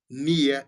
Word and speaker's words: Neah: En tout cas, soki nano moni nano yoki ete kende oluka ye Madia ka ndenge oyoki na prononce yango M-A-D-I-A Madia Nia eza N-E-A-H.